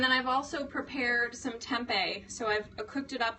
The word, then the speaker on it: tempeh: Made from organically grown soybeans, pronounced tempeh, is high in protein and a good source of iron.